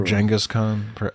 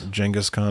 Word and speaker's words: Genghis Khan: Well, like some kind of encounter with Genghis Khan, perhaps, or Genghis Khan, depending on your pronunciation. Genghis Khan, I think, is the actual.